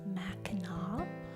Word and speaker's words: Mackinac: It's going to name some Michigan places, and I need you to know that I do know it is pronounced Mackinac, but as a child I did not.